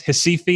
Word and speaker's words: Recife: It's pronounced Recife in Portuguese. Looks like Recife, Recife.